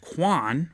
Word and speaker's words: Kwan: Go check out the band Quan. It's spelled Kwan.